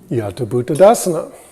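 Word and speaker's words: yathābhūtadassana: And this word is Yata Bhuttadasana. Remember, THs in Pali don't sound like it's just pronounce it like a T for now.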